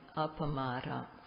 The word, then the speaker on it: Appamada: So there's a word in Pali, Appamada, 4 syllables, and what this means is to always have sati, to not to dwell without sati.